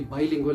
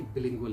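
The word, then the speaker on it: bilingual: बिलिंगुअल means दो languages में, और ये बाइलिंगुअल नहीं होता, ये बिलिंगुअल है. Keep that in mind.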